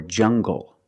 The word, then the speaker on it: jungle: an L after it when you have an L after it it makes the G sound like English make the heart G English or jungle tangle an angle these are pronounced with the hard G sound example monkeys live in